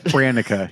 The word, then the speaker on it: Hranica: Hranica. Mike, say it. Ranica. Hranica.